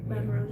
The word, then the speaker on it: Baton Rouge: Baton Rouge, yeah.